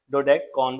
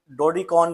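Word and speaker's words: dodecagon: की जो स्पेलिंग लिखे हुए हैं डोडेडकॉन इसको पढ़ते हैं। कुछ लोग इसको डोडकॉन भी पढ़ रहे होते हैं।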